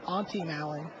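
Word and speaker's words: Antti Malin: it's actually, apparently it's Auntie Malin, but everyone just calls him Auntie. Really? Yes. That's funny. And he's pretty comfortable with that. It's more, Auntie's more of a nickname than the actual pronunciation.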